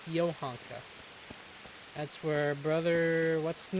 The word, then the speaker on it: Johanka: Yeah, Ivanka. Is that how you say her name? Johanka, not Ivanka, Johanka. Keep wanting to say the. Yovanka. It's Yohanka.